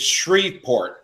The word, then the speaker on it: Shreveport: also I'm sorry say again grant it is Shreveport and through Tomczak who is there who said